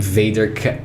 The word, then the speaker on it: vader: I think you know where the name Vader came from, right? Star Wars? Yes. Here's the thing. It's not the same. It's the same spelling. Okay. But I think the pronunciation is vader, is father in Dutch.